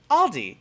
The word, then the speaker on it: Aldi: it's like you know when you say aldi's it's like when you're in florida and you say public instead of publix you know it's it's it's